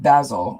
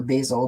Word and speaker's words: Basil: I've got Basil, or Basil, depending on how you want to pronounce it, and I've got trust.